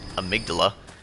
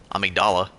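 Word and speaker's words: Amygdala: Amydala. Amigdala, excuse me. keep pronouncing the name wrong.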